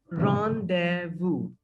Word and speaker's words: rendezvous: come at five o'clock so the word is ron de vu what is the word ron ron what is